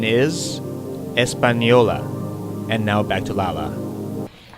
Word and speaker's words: Española: How do you pronounce? Española. Española. Españole. Espanol. What is Espanol? Good. The correct pronunciation is Española.